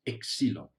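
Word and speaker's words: ξύλον: The other word is pronounced exilon.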